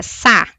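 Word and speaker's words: 사: Quando eu estudei os números em coreano, para lembrar que o número quatro no sistema sino coreano se pronuncia sá, eu associei o desenho do caracter em rangu em formato do número quatro.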